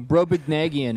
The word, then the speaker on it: Brobdingnagian: I don't even know how to pronounce this. Brobdingnagian. Oh, Brobdingnagian.